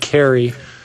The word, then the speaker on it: Kahre: The gentleman's last name is spelled Kahre, but I believe he pronounces it Carey.